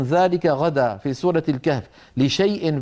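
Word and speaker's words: لشايء: لا منطوقا ولا تقولن لشيء اني فاعل ذلك غدا في سوره الكهف لشيء بين الشين واليائيه هناك الف مكتوبه تكتب ولا تنطق لا يصح حذفها من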